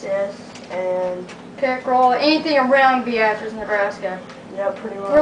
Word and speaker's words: Beatrice: That's B-E-A-T-R-I-C-E. Now some people may pronounce it Beatrice, but we pronounce it Beatrice, because we live in Nebraska.